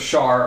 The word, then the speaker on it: Shar: Is Shar spelled like share with an A? Yes. No, it's Shar.